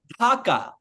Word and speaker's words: Dhaka: Maybe you guys pronounce them entirely differently because Saber Bhai calls it Dhaka. But what is the correct way to say it? Dhaka, Bangladesh. Well, not currency. Dhaka, Bangladesh. What, Dhaka?